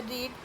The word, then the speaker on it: read: Spelling same है लेकिन pronunciation different है, मीनिंग भी डिफरेंट है क्योंकि पहला प्रेजेंट में बात कर रहा है और सेकंड पास्ट में।